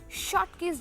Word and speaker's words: Schottky: from the crystal is known as Scott Key's defect you can pronounce it as Schottky defect also now since the cation